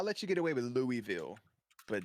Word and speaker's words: Louisville: I'll let you get away with Louisville, but not Louisville. That's just a crime. There's a straight up S in that. It's not pronounced.